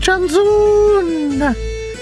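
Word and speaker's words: Janszoon: I am able Janzul Tasman. I am using the traditional pronunciation of Janzun because I am Dutch.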